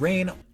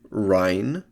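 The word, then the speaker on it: Reyn: Still, it just feels great to be back with Xenoblade Chronicles' memorable cast of characters, whether it's the lovable meathead Rain, Correct pronunciation is Rhine.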